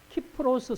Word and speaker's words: 키프로스: 특히 아래 지중해 있는 키프로스 섬이라고 있어요 키프로스 그걸 이제 옛날에 옛날 발음으로 굽으로 그러는데 키프로스 섬 근데이 사람이